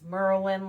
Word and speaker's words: Merlin: So that's Merlin, like the wizard, no space, Mililli, Mililli.